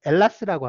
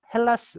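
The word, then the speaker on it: Ελλάς: 경우에는 자기 땅을 이제 엘라스라고 합니다. H 있는데요. H 있는데 H를 발음을 안 해. 헬라스 우리 이제 그냥 읽을 때 헬라스 이러는데 발음은 저 엘라스라고 이렇게 발음을 해요.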